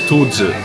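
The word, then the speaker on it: 兔子: Rabbit in Chinese is 兔子. But bald head, having a bald head is also 兔子. It's slightly different. You pronounce it slightly differently, but it sounds very similar, especially for a foreigner.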